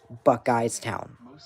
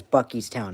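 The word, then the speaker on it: Buckeystown: Um 42 says Buck Eyes Town, not Bies Town. The correct pronunciation is Bies Town.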